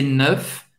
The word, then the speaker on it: neuf: Você vai ter que fazer esse E bem fechado. Faz a boca do O e fala E. C'est neuf. C'est neuf. Você vai pronunciar o F no final.